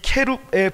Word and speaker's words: 케룹: 구약 성경에서 이 생물은 케룹, 정확히 발음하면 케룹이라는 생물인데요, 이 케룹의 복수형이 케루빔입니다.